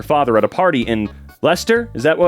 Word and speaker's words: Leicester: Apparently her mother got together with her father at a party in Leicester, is that how you pronounce it?